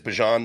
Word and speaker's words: Bijan: Okay, so my correct pronunciation is Bijan. That's over with now. We can call him Bijan.